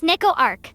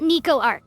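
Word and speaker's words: Neco-Arc: First of all, it's pronounced Neco Arc, not Niko Arc.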